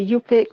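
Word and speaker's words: Yup'ik: my people come from We're actually called the you pick that's y-u-p-i-k that's how you spell it with an apostrophe in it all right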